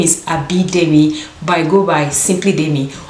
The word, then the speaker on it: Anmabeauty: The name of the company I'm partnering with today, it's called Anmabeauty. Anmabeauty. I'll put it on the screen just in case if I mispronounce it as well.